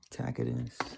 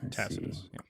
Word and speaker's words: Tacitus: Tacus. Tacitus.